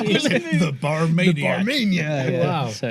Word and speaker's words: Barmania: Barmania. That's correct. I pronounced it right. Yes. It's I was going to say Bartman. It's exactly as it's spelled. Yes. Barmania.